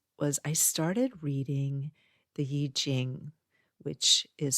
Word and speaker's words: I Ching: And basically what it was was I started reading the Y Jing which is spelled IQing but I learned recently in reading the book that is pronounced Yij Jing.